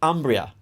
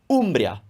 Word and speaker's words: Umbria: if you remember that the vowel is always pronounced oh you're not going to say umbria you're going to say umbria because it's consistent and now we come to